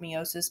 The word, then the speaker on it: meiosis: meiosis uh bt dubs i pronounce it meiosis because i had a hispanic professor in college and that's how he said it so i picked that